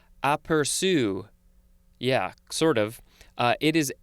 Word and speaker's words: aperçu: Next we have a French word that I'm sure I will butcher, but it is something like aperçu. Yeah, sort of. It is spelled A-P-E-R-C-U, and the C has that accent underneath the letter.